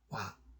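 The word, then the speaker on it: 倭: 그러니까 이 외는 외는 원래 발음이 외가 아니라 와입니다. 와. 근데 우리가 이제 외라고 지금 불러주니까, 근데 하여튼 외라고 불러줘야 될 겁니다. 앞으로는. 왜냐 후한서에서 일과반이라 해서 와라고 읽어주라고 돼 있어요.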